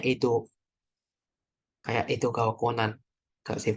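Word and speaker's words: 江戸: Kanji, ini bacanya Edo.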